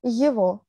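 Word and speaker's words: его: Yevo, yevo. Yego, Yego. C'est ça. On prononce Yeo, go yego.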